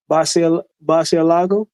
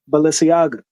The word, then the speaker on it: Balenciaga: Basialago. Am I pronouncing that right? Balenciaga? Balenciaga.